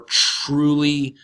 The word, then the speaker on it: truly: indeed is an adverb truly truly here we have a tea and it are together so we're gonna pronounce it in American English like a CH are truly certainly an actually indeed